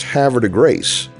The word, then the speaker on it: Havre de Grace: out that the city at exit 89 is pronounced "Havver-de-grayce". And you wonder why so many people have trouble pronouncing Brett Favre...FaRve...Farve ra. We just miss the city limits of Havre de Grace, as the city is centered on US-40, just